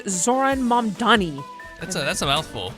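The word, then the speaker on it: Zohran Mamdani: But it's pronounced Zoran Mani.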